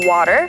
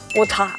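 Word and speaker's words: water: the last bit clearly In American accent, ‘war-er~’ in australian or New Zealand accent, ‘wotah’ Jennie basically speaks English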